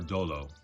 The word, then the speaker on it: Doolo: We name her Doolo because it rhymes with solo.